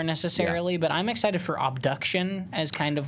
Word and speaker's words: Obduction: And it's Obduction, spelled like abduction, but with an O.